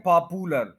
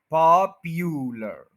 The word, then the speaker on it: popular: कहते हैं पॉपुलर, पॉपुलर, ये पू नहीं है, प्यू है, प्यू, पॉपुलर, पॉपुलर, ये देख लें, पॉपुलर, पॉपुलर, पॉपुलर, पॉपुलर, पॉप के ऊपर स्ट्रेस है, उसके बाद यू है, उसके बाद लर है।